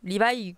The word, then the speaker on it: Levi: C'est bizarre à dire comme ça, mais ça se prononce Levi quoi qu'il arrive, hein, puisque en katakana c'est Levi.